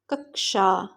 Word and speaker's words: कक्षा: कक्षा शब्द का शुद्ध उच्चारण है कक्षा, कक्षा।